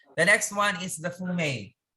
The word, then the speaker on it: fumet: we had that the next one is the fumey pronounced pronouns is a highly flavored stuff made out